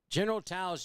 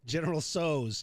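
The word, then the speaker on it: General Tso's: hear you pronounce it General tows chicken not even close General tows no General toes no what is it General so's chicken that's not true that's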